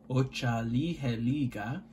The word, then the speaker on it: Otsaliheliga: This is phonetically, which means just the sounds of the word laid out, Otsaliheliga.